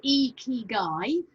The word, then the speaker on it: ikigai: my best to describe so icky guy pronounced e ki guy but with um the spelling i k i g a i there is not a